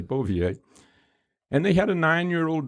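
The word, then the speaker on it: Bouvier: his last name was is it bovier is that's why he pronounced it okay beauvier and they had a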